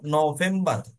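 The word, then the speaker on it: November: এরপর নভেম্বর নভেম্বর নয় নভেম্বর এন ও এর পরে ফাউ আছে এটা ওকে এজন্য ফাউ কে বলবো ফাউয়ে উচ্চারণ করে যাব নভেম্বর ওকে নভেম্বর নভেম্বর হ্যাঁ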